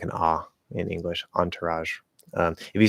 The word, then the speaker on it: entourage: the syllable before raj uh no it's ah um because this is originally a french word i'm pretty sure they say all right with that like nasal like entourage or something like that um